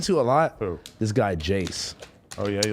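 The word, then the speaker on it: Jayze: guy jace oh yeah but it's spelled i-a-y-z-e i don't know how in the maybe i'm just oh i'll get it i don't know how the you get jace from that yeah like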